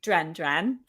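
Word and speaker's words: Duran Duran: to The Reflex by dren dren that's how they pronounce their own name and so like and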